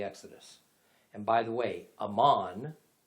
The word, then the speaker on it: Amman: and by the way amman the capital of jordan is just the arabic pronunciation of the ancient territory of amon which the kingdom of